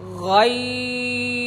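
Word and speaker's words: غين: মোটা হরফ আমরা একটু মোটা করে উচ্চারণ করছি। একটা হল গাইন আর গইন যাতে করে সুন্দর হয়ে হরফটি উচ্চারিত হয়।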